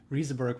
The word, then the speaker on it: Rieseberg: How do you pronounce it correctly? I lived in Germany for a while, and it would be Rieseberg, I think. It's a funny question. I've been in the Silicon Valley for like 13 years now, and I never really figured out how I really want people to pronounce it. Rieseberg works fine, but I'll take anything.